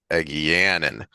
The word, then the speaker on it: Egeanin: Eganin. I Egeanin. put the emphasis on the A or the E, the A, and it's supposed to be on the second syllable, the second vowel, the anin. So Egeanin.